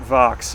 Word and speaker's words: Vaux: He and, I don't know, Vaux is Calvert Vaux. I deliberately went on to various pronunciation sites because I've for years because it looks like it should be Calvert Vaux. It looks like French, but it's not.